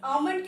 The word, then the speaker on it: almond: जैसे almond की spelling क्या है?